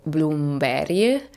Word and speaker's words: Blomberg: un borgo di nome Blomberg la cui pronuncia sembrava tanto semplice ma in realtà sarebbe tipo bloomberry a circa 45 minuti di